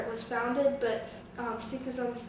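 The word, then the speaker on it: Sikhism: say the word um it's seism um and a follower a follower of seism is called a seek and it's something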